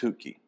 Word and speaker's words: Chautka: It's spelled Chautka. Actually pronounced Hootke. It's pronounced what? Hootke.